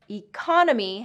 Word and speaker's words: economy: Economy has second syllable stress. Economic has first and third syllable stress.